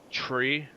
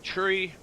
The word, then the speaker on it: three: So the 3 numbers that we say differently is 3 is said like tree, what grows out of the ground. Write this out for you. Three is said like tree.